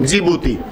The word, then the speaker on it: जिबूती: Sudan Eritrea और जिबूती जिबूती में डी आता है मैप में देखोगे तो डी नजर आएगा बिगिनिंग में ठीक है साइलेंट है बोलते क्या है इसको जिबूती तो रेड सी से